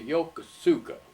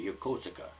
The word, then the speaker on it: Yokosuka: the bay although it's it's the Japanese pronouncing Yokosuka they put the axe in a different place and we call it Yokosuka but it's your call